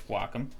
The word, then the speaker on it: Wacom: copic or copic um by the way it's wacom uh but like i don't know how to